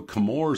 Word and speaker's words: Chemours: that up uh also kamor is pronounced like chemistry not chewy and that's where a